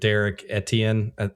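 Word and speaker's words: Derrick Etienne: Uh and I'm probably going to butcher his name, but Derek Etien, is that how you say it?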